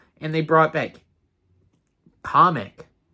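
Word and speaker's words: Kamek: and they brought back comic that's how they pronounce it in the in the trailer comic I just pronounced it as kamik uh they're bringing kamik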